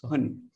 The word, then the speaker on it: Sohani: How do you pronounce Sohani? Yeah. Sohani. Yeah.